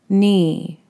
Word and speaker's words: knee: kN the K is silent nee mm II knee find the picture for